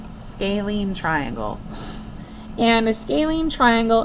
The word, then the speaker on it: scalene: it's called scalene so I'm going to write phonetically how to say it SC lean scaling triangle and a scaling